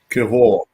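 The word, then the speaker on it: Kiwior: This Kiora. How do you pronounce his name? Kior or Kiora? Kivor. Kivor. Okay.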